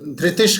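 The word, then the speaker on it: धृतिश्: तो जैसे हमने पहले भी बताया इसके पहले वाले श्लोक में कि हमने जो विसर्ग है उसके बाद जो श आएगा, इसलिए हम उसको श धृतिश कर देंगे।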